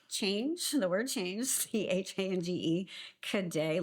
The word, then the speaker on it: Cadet: You can slide in my DMs at change, the word change, CHANGE, Cadet, like cadet, CADET.